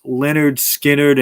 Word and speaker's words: Lynyrd Skynyrd: band released their debut album which is called pronounced leonard skynyrd and they spell it out phonetically okay on